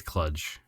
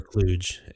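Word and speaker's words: kludge: okay I think it's cludge you can say it either way cludge or Cluj it's spelled either way when I looked it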